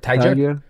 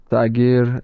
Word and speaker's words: Tagir: It's Tagir. Tiger? Tiger.